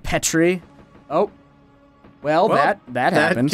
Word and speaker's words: Petrie: It's pronounced Petrie.